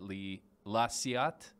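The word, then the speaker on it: La Ciotat: It is The Arrival of a Train at La Ciat. That's how you pronounce it.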